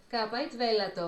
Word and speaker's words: capite velato: So let's play this again, the pronunciation. Capite velato.